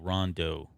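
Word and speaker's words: Rondeau: if you have any feedback on that disney it's spelled r-o-n-d-e-a-u rondo please call him yeah okay that's the complaint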